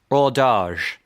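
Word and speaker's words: hors d'âge: have heard of the top denomination is or which is spelled like ores h o r s d apostrophe age or orage right and that basically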